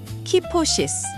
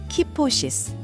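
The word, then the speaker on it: kyphosis: 같이 발음해 보겠습니다. 키포시스. 키포시스. 키포시스.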